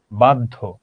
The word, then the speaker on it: বাধ্য: অদ্য, বাধ্য, কন্যা। শব্দের শেষে হোক মধ্যে হোক, যদি দুফলা জ ফলা থাকে, তাহলে সেই বর্ণটা দুইবার উচ্চারণ হবে।